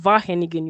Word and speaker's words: Wageningen: It's called Wageningen University. The W is silent. Okay, It's a V.